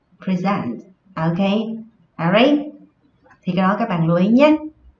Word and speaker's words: present: Khi nó ở dạng danh từ, khi nó đứng ở vị trí là danh từ thì trọng âm của nó rơi vào âm tiết đầu tiên. Khi nó đứng ở vị trí là động từ, trọng âm của nó sẽ rơi vào âm tiết thứ hai.